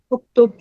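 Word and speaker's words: اكتب: کوئی حمزہ نہیں ہے، تو حمزہ خود سے لگائیں گے اور اس حمزہ پہ ضمہ بولیں گے اگر سکون کے بعد ضمہ ہے. انصر. کتب یکتب، آپ کہہ رہے ہیں لکھو. اکتب.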